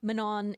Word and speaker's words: Manon: Basically saying like, I know it's always going to be a thing, but it's not Manon, it's not Maninon, it's not Manu, it's Mano.